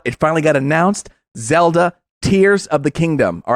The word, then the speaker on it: Tears: finally got announced zelda tears of the kingdom all right not tares of the kingdom some of you might think tares but no they're spelled the same but it's very different this is zelda tears